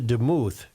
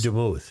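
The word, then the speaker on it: Demuth: GOP speaker designate Lisa deuth is that how you say it or is it deou I go with deou yeah I think you're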